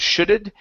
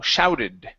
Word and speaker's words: shouted: So instead of shudded, it's shallow. Shouted. Shouted.